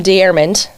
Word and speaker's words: Deyermond: are and tell me if I get your name wrong, but it's Jim Dearand, right?